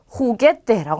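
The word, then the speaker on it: juguete: 이 호따는 흐 발음이 나는데요. 굉장히 강하게 나요. 그래서 방금 전에 보셨던 이 헤으 히읗보다 훨씬 더 강하게 해주시면 돼요. 자, 그러면 얘는 읽을 때 후게떼라고 합니다.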